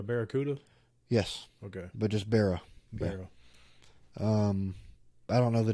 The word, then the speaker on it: Barra: Yes, Okay, but just Barra.